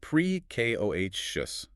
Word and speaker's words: precocious: The adjective is precocious. P R E C I O U S. pronounced prek koh shus.